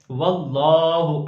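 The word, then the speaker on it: وَاللّٰهُ: کی ہجے کریں گے۔ واللہ اکبر، واو لام زبر ول، لام کھڑا زبر لا، اس اسم جلالت کے لام کو موٹا پڑھیں گے اور لام پر کھڑی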